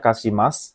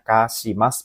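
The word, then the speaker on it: 貸します: Harusnya bacanya kashimas gitu ya. Ini tambah ri di sini salah ya. Jadi ini sebagai pengecoh saja ya. Ini harusnya bacanya kashimas, meminjamkan.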